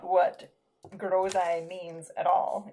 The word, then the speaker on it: groseille: So in French, gooseberry is groseille. Here in Pumlico, we don't pronounce anything properly, and so we call them grouselles.